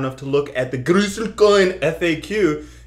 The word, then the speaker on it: Groestlcoin: to look at the gruel coin FAQ you would see is pronounced Gru coin right so that's why